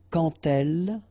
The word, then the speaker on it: quand elle: So like that, quand elle, all right, same rule here. Remember, when you will have this d, you will phonetically pronounce it like t. Quand elle, dans un, okay,